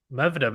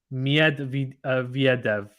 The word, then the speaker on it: Medvedev: Edgar says Medvedev. Medvedev. Oh, my God. Is that how you pronounce it? That's going to kill me to say it like that. I'll try my best. Medvedev.